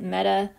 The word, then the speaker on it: meta: atom this is meta we use the letter m but we pronounce it meta metachlorostyrene and again meta